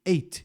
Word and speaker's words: ate: Ate. A mesma pronúncia que o número 8. Ate.